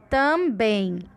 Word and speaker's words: também: Também. Então, na palavra também, a sílaba de maior força, com maior intensidade, com maior som, é o bem, também.